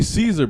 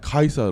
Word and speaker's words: Caesar: These like we say Caesar, but you know that the Romans pronounce it Kaiser, right?